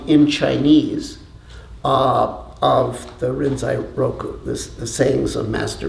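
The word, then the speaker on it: Rinzai Roku: a copy of the renai Roku so the rinai Roku is the uh Japanese pronunciation of uh the Chinese book uh Lin L and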